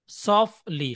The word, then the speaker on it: softly: SOFTLY, উচ্চারণ হলো, টি এর উচ্চারণ হবে না, সফটলি।